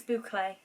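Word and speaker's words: bouclé: It's like a boucle or boucle. I don't know how you say it. Boucle? I don't know. I will find out. Boucle. It's boucle.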